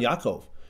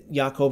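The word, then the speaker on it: Ya'akov: who says hi I'm Yakov you're like Yakov what's that I mean it's good to know Yakov is you know what I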